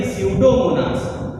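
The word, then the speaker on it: Pseudomonas: यहाँ पर आपने देखा था पी लिखा हुआ था, तो ये पी इसमें क्या है, साइलेंट है, तो इसे पढ़ेंगे स्यूडोमोनास।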